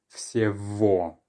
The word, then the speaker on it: всего: The letter G, it turns out, is often changed to more of a V sound when it's in between two vowels. So because we have Y, then G, and then O, that becomes V. Всего.